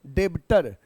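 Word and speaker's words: debtor: next term आपका है बच्चे डेटर लिखते हैं डेटर ब पढ़ते हैं डेटर बी साइलेंट रहता य जो बी है ना य साइलेंट डेटर डेटर को हिंदी में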